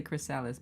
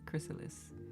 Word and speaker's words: Chrysalis: Cuz I was like, I keep want to say Chrysales, but Chrysalis.